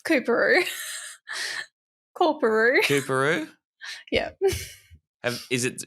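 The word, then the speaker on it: Coorparoo: Peru Walter Taylor Paddington Central morning side it's koeru Karu Karu yeah is it is it have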